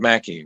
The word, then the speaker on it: Mackie: It's Howard Mackie, right?